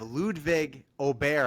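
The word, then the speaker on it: Ludvig Åberg: They have Ludwig Aubert, I believe is the correct pronunciation, Fair Ryder over.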